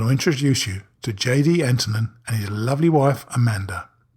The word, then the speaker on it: Antonen: Is Antonen correctly pronounced, by the way? That is right. That's the American pronunciation.